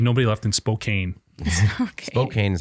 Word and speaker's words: Spokane: Spokane is how you say it.